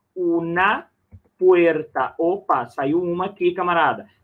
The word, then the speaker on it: puerta: Lembra aí, ó, o E fechado e o R é vibrante, ó. Una puerta. Olha aí o R, né?